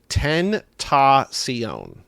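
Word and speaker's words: XXXTentacion: He says, regarding the rapper that died, it's pronounced XXX Tentacion. Oh, yeah. No. I got that wrong. He just says Tentacion. Tentacion. Sure. That's it total. No X's.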